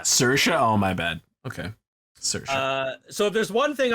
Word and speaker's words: Saoirse: Oh, it's pronounced Saoirse. Yeah. Saoirse? Oh, my bad. Okay. Saoirse.